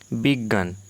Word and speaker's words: বিজ্ঞান: পরবর্তী গ লোভ পেয়েছে বিজ্ঞান বিজ্ঞান অজ্ঞান অজ্ঞান বিজ্ঞান বা অজ্ঞান নয় একটি অতিরিক্ত জফলা এর সঙ্গে উচ্চারণ করছি জ্ঞান বিজ্ঞান অজ্ঞান এরকম তাহলে